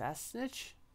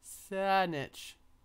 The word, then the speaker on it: Saanich: bottom of North how do you say thats a snitch Saanich we're right here Saanich Saanich uh called the